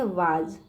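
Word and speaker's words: was: अब जहाँ भी आपको ए एस दिखाई दे, ठीक है, ए एस, तब बच्चों यहाँ पे स का जो उच्चारण होता है ज के रूप में कन्वर्ट हो जाता है, ठीक है। ए एस हमेशा ज के ज का उच्चारण निकलता है, ठीक है। तो इसको पढ़ेंगे वाज, ठीक है।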